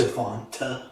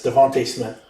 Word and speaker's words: DeVonta Smith: Yeah, it's Devontae Smith. Devontae Smith? Yes. It ends with an A, not an E. I know, but they still pronounce it Devontae.